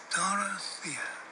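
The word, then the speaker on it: Dorothea: calls Dara Doty but he always pronounces her name in full taking his time about it Dora Thea why would anyone shorten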